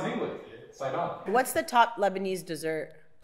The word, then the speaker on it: Sidon: an N to no no that's how it's pronounced in English sidon what's the top Lebanese dessert I was F